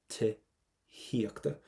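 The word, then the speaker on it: tithíochta: Do not pronounce that TH, Tihiachta.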